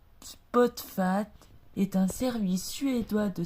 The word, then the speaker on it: Spotify: Spotify ou prononcé en anglais Spotfat est un service suédois de streaming musical sous la forme d'un logiciel propriétaire et d'un site web.